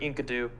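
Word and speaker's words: Enkidu: can use the bird inkadu inkidu anyway there's no way that that's actually I'm pretty sure you've said it right the first time it's it's in kidu uh it's from the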